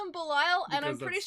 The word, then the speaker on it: Belial: Sean Schemmel is Zero and Patrick Seitz is Belial. Ah, Belial, yeah. Oh, right, it's Belial. Belial. I always want to call him Belial, and I'm Because pretty that's- sure it's Belial.